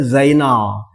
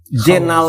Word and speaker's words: Zainal: Jenal itu ternyata khawaja Zainal zenal itu pelafalan orang-orang Banten terhadap nama Zainal orang Turki KJA itu